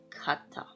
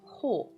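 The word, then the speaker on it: 方: This is kata or uh ho. Okay, we have kata or as pronunciation.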